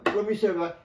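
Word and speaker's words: promise: আচ্ছা, কেন এইটা আমি দিচ্ছি প্রমিসের, এটা উচ্চারণটা ভাওয়েল প্লাস এসি আছে, দেখো ও ভাওয়েল, তারপর না আই, তারপর এসি আছে, ভাওয়েল তারপর এসই আছে, হ্যাঁ, তাহলে উচ্চারণ হওয়া উচিত ছিল জ, কিন্তু জ নয়, উচ্চারণ স, যেমন প্রমিস দন্তস্ব।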